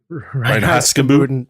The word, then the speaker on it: Reinheitsgebot: Reinheitsgebot.